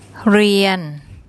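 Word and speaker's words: เรียน: เ ร ี ย น เ ร ี ย น เ ร ี ย น And that's the Thai word to learn or to study.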